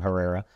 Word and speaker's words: Herrera: and so she told me that's how you pronounce her last name Herrera with LBGTQ saves welcome Shar thank you thank